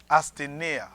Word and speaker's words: asthenia: It is the word asthenia. Se mo astinea. Asthenia. Astinea. It is spelled A-S Li eple A-S T-H-E T-H-I-E N-E N-E-I-E I-A.